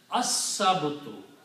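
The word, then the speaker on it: السبت: Also, Sin is a Shamsi letter, so that kills the sound of lam. So it is pronounced as as-sabtu.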